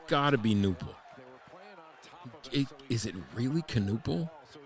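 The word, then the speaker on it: Knueppel: guy pollute the NBA canle guy's last name is canle just don't pronounce the k just call him nle it's K it's nle I don't think it's canle is that a silent k don't you go silent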